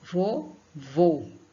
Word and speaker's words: vovô: pelo nariz exemplos vó vovô o são passa pelo nariz e a sílaba forte qual é vô vou vovô a sílaba forte é o segundo vô né a sílaba que